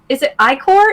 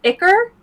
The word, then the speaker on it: ichor: Is it ichor? Is it ichor? Like, I think it's pronounced both ways.